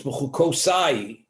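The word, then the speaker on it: בחקתי: Therefore, it's b'chukosai. In the pronunciation, it's plural, but in the writing, it's one.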